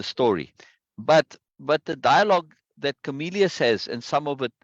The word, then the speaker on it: Comelius: always read Camellia. Yeah, Comelius. Right. So second syllable again. Good, Comelius. Mama. Comelius. Okay, Yeah. yeah. And the IU is two syllables.